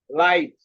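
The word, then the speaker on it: light: এরপরে কি আছে, সাইলেন্ট জিএইচ। যে অনেক শব্দে, হ্যাঁ, যে জিএইচ এর শব্দ, জিএইচ অনেক শব্দ উচ্চারিত হয় না। যেমন লাইট, থট।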